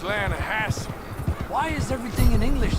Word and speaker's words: Lanahatchee: Yeah, but it's pronounced Lanahatchee.